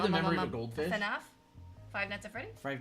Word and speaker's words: FNAF: That's four syllables. That's too much. That's I would shorten it to two syllables. I just say FNAF.